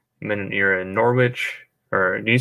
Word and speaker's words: Norwich: coffee and kieran says it's a silent w so it's norwich okay easy day wait